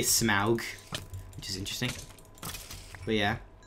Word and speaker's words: Smaug: desolation of smog well in the movie they don't pronounce the smog it's smug they say Smaug which is interesting but